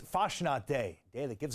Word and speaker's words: Fastnacht: How do we pronounce it? Fastnacht. Fastnacht.